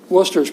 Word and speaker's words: Worcester: Worcester's probably is that correct, Worcester? Is that, okay. I've heard it pronounced differently, and I spelled it badly one time. It's not like Dorchester with a W.